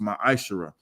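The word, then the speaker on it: מעשר: 3 8 through 10 means 10th in hebrew and it's pronounced maisha 10 percent of every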